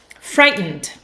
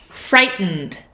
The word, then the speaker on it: frightened: take a look frightened frightened did you hear how I pronounced that now in some englishes you might hear frightened but uh in North American English we usually swallow this last whole bit and say n frightened